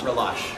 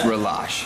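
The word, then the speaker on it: Relâche: All right, so We have a in Palachi, that's how you pronounce it, or Relash? Relash.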